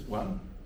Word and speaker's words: Nguyen: So how do you pronounce this one? Yes, one. One? Sounds like number one.